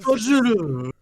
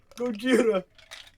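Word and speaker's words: ゴジラ: Gojira. Gojira. It's Gojira.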